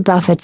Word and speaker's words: buffet: better not about the buffets something is to rough it up buffet rhymes with Muffet with Miss Muffet buffeted by the crowd